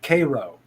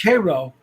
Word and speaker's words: Cairo: down there pronounce it cairo because they they don't want to be associated with egypt yeah no it they they pronounce it the same way they do the syrup yep karo syrup but it's spelled it's